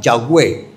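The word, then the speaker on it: Yahweh: Son cuatro consonantes que para poderse pronunciar se le añadieron las vocales de Adonay. Adonay es mi señor. Se le añadieron las vocales al tetagramatón para que se pronunciara Yahweé el que es.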